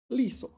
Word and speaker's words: 利索: Nimble, 利索. All right, 利索. You don't pronounce the saw.